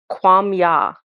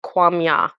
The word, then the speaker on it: Quamya: He says, "I am Kwam Ya." And how I spelled it to understand how to say it was Quamya, Kwam Ya.